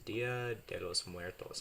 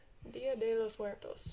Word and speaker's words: Dia de los Muertos: Souls Day, which is Dia de los Muertos. How is my pronunciation of that? Horrible. Really? Yep. How do you say Dia de los Muertos?